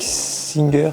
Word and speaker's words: Singer: Mais pourquoi Singer, tu gères? À moins qu'il faut le prononcer à la française, Singer. Avec Singer, tu gères.